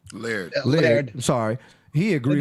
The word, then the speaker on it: Laird: You said like air, just Laird.